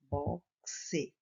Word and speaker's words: boxe: Boxe. Boxe. Na apostila está faltando um X na palavra boxe. Eu completo com X, porém na hora de ler é como se fosse um C e um S.